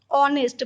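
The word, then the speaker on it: honest: एच ओ एन ई एस टी, ऑनेस्ट, बट एच है silent, इसीलिए एन बैठता है।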